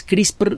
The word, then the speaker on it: CRISPR: ese y de hecho el nombre completo es chris por diagonal cas 9 qué onda con esto porque